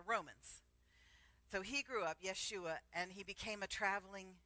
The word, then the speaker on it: Yeshua: need to know that the two syllables Jesus are westernization of his actual name which was Yeshua so Yeshua because we had Western